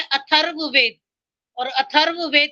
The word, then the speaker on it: अथर्ववेद: चौथा क्या बोला है अथर्ववेद स्पेलिंग बोलो आ फिर था और व के ऊपर र तो इसको क्लियर बोला करो क्लियर नहीं है अथर्व अथर्व वेद अथर्व क्लियर नहीं था इसलिए मैंने बार-बार पूछा